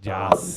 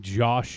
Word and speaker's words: Joss: Joss. Why do you have to say it like that? Johnny, tell him. Because he used to call him Josh Whedon. And Okay. we corrected him.